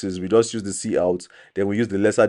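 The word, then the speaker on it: cout: to the controlle C out that's how is pronounced C out as far C then out then this is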